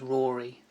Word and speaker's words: Rory: your first name is Rory because of course you want to make sure it rhymes with Tory so we could call